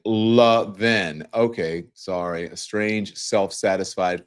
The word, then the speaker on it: Levin: He pronounces it Levin.